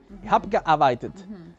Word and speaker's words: gearbeitet: Se vuelan la E, ich hab gearbeitet. Gearbeitet. Beitet es como el B, es como casi una B, beitet.